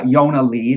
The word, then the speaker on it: Jonna Lee: stage name yonalee uh with an i instead of a j because that's how it's pronounced in swedish um and those albums